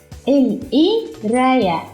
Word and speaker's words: القراية: We don't pronounce قاف in Egyptian like قا. We pronounce it like a. القراية.